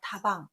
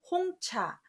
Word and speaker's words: 茶: 그것을 먹는 장소가 되면 다 발음을 하는데 예를 들어서 다방 그걸 먹는 법칙 다도 그런데 차로 되면 홍차 녹차 이렇게 할 때 쓰는 차가 되는 거죠. 이게 장소와 물건을 좀 구분할 때는 발음을 구분한다는 거.